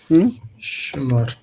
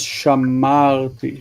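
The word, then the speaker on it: שמרתי: Okay, so it's Shmarti. Okay, but the stress there is shamarti.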